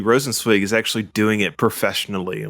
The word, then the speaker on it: Rosenzweig: I just hope Alyssa Rosenweg. I hope you apologize for mispronouncing that. Rosenzweig. Mm-hmm. Alyssa Rosenweg. Rosenzweig. Swig. But I hope she doesn't leave also.